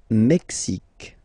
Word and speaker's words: Mexique: Le Mexique. Mexique. It's really the X. Huh? Le Mexique. And then remember this Q-U-E, it's only K.